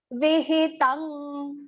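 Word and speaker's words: विहितं: Ashastra Vihitang. Vihi, both are small pronunciations. Vihitang. Tang. You can see Anuswara pronunciation is partial nasal ng.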